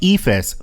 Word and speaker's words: EFIS: electronic flight instrument system efis pronounced efus because in aviation we love to convert our acronyms into words this is a suite